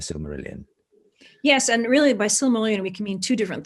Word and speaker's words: Silmarillion: How's it pronounced? Silmarillion?